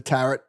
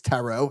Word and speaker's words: tarot: emails which hey oh the taret the tarret one tarot card apparently it's tarot I've never said the